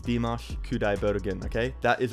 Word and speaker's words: Dimash Kudaibergen: there practicing it so i know it's dimash kudai bergen and do not tell me it's wrong it's dimash kudai bergen okay that is right